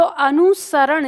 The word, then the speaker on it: अनुसरण: तो अनुसरण, इसमें दंत स होगा, ये आपको ध्यान देना है यहाँ पर, इस स पर। ठीक है, तो तालु श नहीं होता है, इसमें दंत स होता है, अनुसरण।